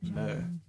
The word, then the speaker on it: myrrh: But, okay, it's pronounced myrrh.